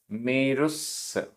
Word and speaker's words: मेरुस: गाथा क्रमांक 120 उच्चारण मेरुस मेरुस आधा स पूरा स मेरुस हिठ हिठ आधा ट